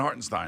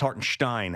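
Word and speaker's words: Hartenstein: isin we we got it's har St and hartstein no it's Haren Stein actually it wasin I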